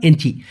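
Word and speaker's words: Encik: এনচি, অনেকে ইঞ্চি বলে, মূলত সঠিক উচ্চারণ এনচি।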